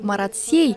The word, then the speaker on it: Марат-Сей: Например, название площади Марат-Сей стоит произнести с буквой «Е». Если заменить ее на «Э», то название площади будет звучать как «дыра города» вместо «сердце города».